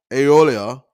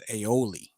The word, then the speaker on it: aioli: cheddar cheese and truffle aeolia on a toasted irish buttered brioche bun now i do know the one thing and you said you already apologized i think the pronunciation is aioli her too so she's on the